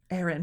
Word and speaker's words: Ehren: Aaron, but it's of course it's spelled EHREN.